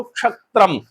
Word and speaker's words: क्षत्रम: तो क्षत्रम इसमें क्ष जो बना है ना वो क और श से मिलके बना हुआ है श षटकोण वाला। इसलिए हम बोलते हैं उसको क्षत्रम। इसमें दोनों वर्णों का उच्चारण निकलता है।